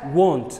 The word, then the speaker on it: want: Ardayga kelmadda waa want we. It's not went ma. The right way to say this word is want.